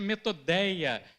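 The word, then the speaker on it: μεθοδεία: Gente, no original grego, koiné, astutas, ela tem uma palavra chamada, uma palavra que se pronuncia metodeia.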